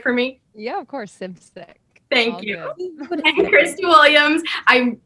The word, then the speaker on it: Simcik: uh i'm going to say your last name wrong can you say it for me yeah of course sip sick thank you christy williams i meant to ask